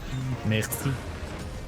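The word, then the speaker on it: merci: Mercyu. That's the actual French pronunciation of mercy.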